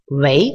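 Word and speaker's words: 喂: «Вэй» читается вторым тоном. Для тех, кто помнит, что в китайском языке есть четыре тона, первый, второй, третий, четвертый, да, ровный, восходящий, нисходящий, восходящий и нисходящий, вот, произносят «вэй» вторым тоном, то есть вторым вверх, значит, «вэй». Такая вопросительная интонация.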